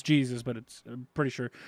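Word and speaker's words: Jesús: It's Jesus, but I'm pretty sure it's pronounced Jesus.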